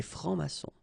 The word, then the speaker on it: francs-maçons: S here and S here. Des francs-maçons, and then you don't pronounce them. Des francs-maçons.